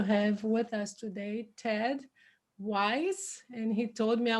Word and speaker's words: Weiss: with us today ted wise and he told me i was asking him how do i say your last name any good rhymes with nice okay that's not easy